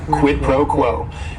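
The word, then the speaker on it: quid pro quo: here quidd proquo and it is three words word is only one syllable and if if you're saying it together the stress is is kind of on that first word and that last word quit proquo and what this means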